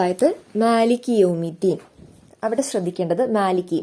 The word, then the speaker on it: مالك: വരുന്ന ഒരു മിസ്റ്റേക്ക് ആണ് മാലിക്കി എന്ന് പറഞ്ഞിട്ട് കുറച്ചധികം നീട്ടി ഓതൽ അത് തെറ്റാണ് രണ്ട് ഹർക്കത്ത് മാത്രം നമ്മൾ നീട്ടുക അതായത് മാലിക്കി അത്രേയുള്ളൂ മാലിക്കി യൗമിദ്ദീൻ മാലിക്കി യൗമിദ്ദീൻ അതിലേറെ ആയിട്ട് മാനെ അവിടെ നീട്ടരുത് പിന്നെ യൗമിദ്ദീൻ അക്ഷരങ്ങൾ അതിന്റേതായിട്ടുള്ള